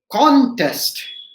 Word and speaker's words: contest: c-o-n-t-e-s-t right c-o-n so if i say contest right whether my stress is in the word it is in the syllable com right on test that means to participate in a particular competition right right so it's a competition i have example i have participated in a particular contest right now if i say contest that means i am challenging something right contest maybe i